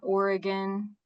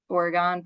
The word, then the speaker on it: Oregon: So I'm from like a small town in Oregon, Ohio, not Oregon, the state, but Oregon, pronounced that way.